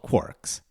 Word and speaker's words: quark: Paging through Finnegan's Wake, I saw 3 quarks for Muster Mark. And of course it's quark, it rhymes with a whole bunch of things, mark, bark, and so on and so forth.